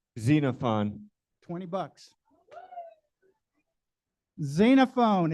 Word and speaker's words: Xenophon: stand for zena fun I've heard I heard Xavier that's right that's wrong who said Xena Fon 20 bucks xenophone it's spe it's spelled x n n o p n xenophone